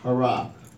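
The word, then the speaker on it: הרה: H-A-R-A-H. Hara. And it's spelled hey, resh, hey.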